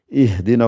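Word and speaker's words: اهدنا: Donc la troisième lettre, qu'il ait un fatha ou kasra, vous lirez toujours avec un i pour les verbes. Donc c'est pour ça que vous dites ici, ihdina as-sirat al-mustaqim.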